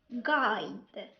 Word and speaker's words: guide: Sometimes U is silent when it comes after letter G. بمعنى بعض الأحيان كيكون اليو silent إذا جا more letter G. An example: colleague, guide, tongue, guilty.